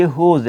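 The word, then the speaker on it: whose: W के फ़ौरन बाद, जब एच या आर में से कोई वर्ड आ जाए तो W की वॉइस जो है वो साइलेंट हो जाएगी, और साइलेंट होने की वजह से हम इसे कहेंगे कि ये वाला जो वर्ड है ये वूज़ नहीं बल्कि होज़ है, होज़।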